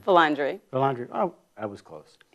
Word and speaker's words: Vilandre: Vilandre.